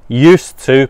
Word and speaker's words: used to: So the pronunciation here is important. You do not say the D. Also, it is an S sound, not a Z, not used to, no, used to. And this to becomes a used to.